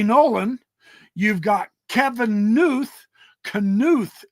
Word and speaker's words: Knuth: Knuth is how I've heard his name pronounced, Knuth, all of which I've done videos about.